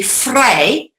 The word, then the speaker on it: vrij: German language, is that your V sound is phonetically said like an F. So, for example, the word free in Dutch would be vrij, but with a V, all right, instead of an F.